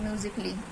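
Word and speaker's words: musically: आ जाए तो जैसे म्यूजिकली तो म्यूजिकली में हमारा ए है साइलेंट लेटर रोमांटिकली रोमांटिकली में हमारा जो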